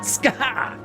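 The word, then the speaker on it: Scáthach: According to those weird Irish, it's supposed to be Skaha. Oh, it's like Skaha. It's the Skaha. No, it's like you're trying to say scar, but you're kind of coughing it. Skaha.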